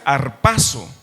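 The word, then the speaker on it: ἁρπάζω: arrebatado viene de una palabra griega que se pronuncia arpazo significa arrebatar y precisamente tiene la idea esa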